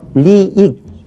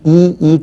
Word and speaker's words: 이익: 그런데 그걸 그 단어의 첫머리로 이렇게 가지고 와서 발음을 하려고 하면 그래서 리익 너무 이상해요. 자, 그래서 이익 그렇게 발음하죠.